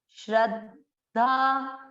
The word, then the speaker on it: श्रद्धा: सत्वानुरूपा सर्वस्य, श्रद्धा भवती भारत। अब तीसरा चरण, श्र, वापस वही चीज, श आधा र पूरा, श्रद्ध, श्रद्धा, श्रद्धा, द का उच्चारण छूटना नहीं, श्रद्धा।